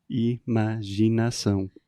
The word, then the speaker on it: imaginação: Olha só minha boca. E normal, abertinha. Ma, eu junto os meus lábios na hora de falar ma. Uhum. Gi, Gi. Gi. Isso. Você vai fazer round lips. Você vai dar um beijinho.